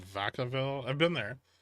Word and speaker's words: Vacaville: This city in California called Vacaville. I've been there. Quaint combination of Spanish and French words that's pronounced like neither, which I would offer as the name for Bullatory.